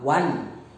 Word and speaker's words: one: Okay, like that, a one day maths, O is vowel, but the sound is coming as wa, one.